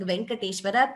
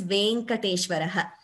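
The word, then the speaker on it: Venkateśvaraḥ: The correct pronunciation is Venkateshaha, Venkateshwaraha, Shri Venkateshwara Suprabhatam. So that we need to be very mindful of. And in case you all are saying Venkateshwara, please correct it. The word is Venkateshwaraha.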